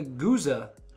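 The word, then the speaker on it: gueuze: meit fermentation takes place after six months the goose' so the goose I keep mispronouncing that it's the way it spelled as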